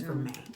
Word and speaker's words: vermeil: That's a common mistake because of the way the word is spelled. Yeah. It has the L in it, but it's silent. It's Vermeil. That finger.